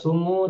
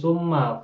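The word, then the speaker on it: ثُمَّ: dan tidak ada baca summu tidak ada baca summi bacanya selalu Summa Fatha Summa ya mabniun Alal Fathi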